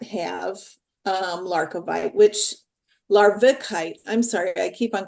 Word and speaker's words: larvikite: one that came forward is Lite now lovite is spelled l a r k i v I'm sorry larvikite I I call it l l l a